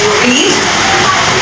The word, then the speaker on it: read: एक बताऊं मुझे, रीड, रीड का सेकंड फॉर्म तुम्हें पता है, रीड, रेड, रेड, spelling same रहती है, बोलते अलग है। रीड का सेकंड फॉर्म है रेड, लिखेंगे रीड, पढ़ेंगे रेड, रीड, रेड, रेड, okay,